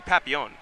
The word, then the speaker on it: Papillion: city many people are many of the French got mad when they realized that we pronounced it wrong it's technically Papillon next up we have